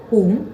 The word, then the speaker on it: хум: Долгим а хороши также мантра шивы хум с Долгим у и разрушающая иллюзию очищающая